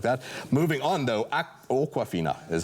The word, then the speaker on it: Awkwafina: and other stuff like that moving on though awkwafina is how you say the name oh I